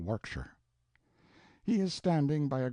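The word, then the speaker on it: Warwickshire: Pronounced Cubri Flanover Marshbank Sellers Viccount Barkley of Chumley Castle, Warshire.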